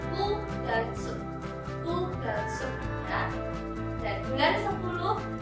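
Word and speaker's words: 九月: Untuk bulan 9, angka 9 untuk bulan bukan Q tapi U. Jadi bukan KYUU tapi hanya ditulis Kugatsu.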